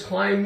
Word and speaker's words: climb: I'm hungry plus I'm that's the word the B is silent what does climb mean for example you